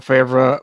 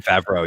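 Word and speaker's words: Favreau: film absolutely and and John favra farra I can never pronounce his last name John favro yeah yeah John favro thank you he was the perfect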